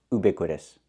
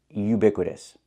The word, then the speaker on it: ubiquitous: Yes, I know what it means, but it's not pronounced ubiquitous. The word is pronounced ubiquitous. Not oo, but u. We need the y sound like yellow and yesterday. Ubiquitous.